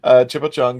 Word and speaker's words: Chipo Chung: It is Chan Chipo Chung Tho, if you pronounce it right, but it's actually Chipo Chung.